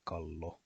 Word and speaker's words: kallo: thick P sound, and the double L is always pronounced as a long L sound, as in kallo, and the double S